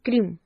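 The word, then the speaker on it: क्रीं: बहुत लोगों को इसका उच्चारण नहीं पता है, कोई इसे क्रिंग बोलता है, कोई इसे क्लिम बोलता है, लेकिन इसका जो सही उच्चारण है वो है क्रीम।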